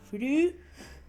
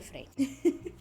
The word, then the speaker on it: Frey: hermanos Fry o Frey, no sé cómo se pronuncia Frey, porque mi cerebro alemán dice, bueno, es la Y, pero la Y no es como una I, y entonces sería Fry, pero Fry no es así porque no es una I, entonces la I no sonaría como una I, pero la Y en alemán funciona como Upsilon, y la Upsilon se pronuncia como U. Frey. Ni idea, pero vamos a decirle Frey.